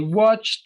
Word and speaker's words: watched: I watched a movie. Watched. You go ch-ta.